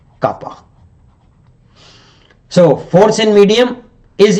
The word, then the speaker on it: kappa: permittivity or dielectric constant normally represented by this letter K pronounced as kappa.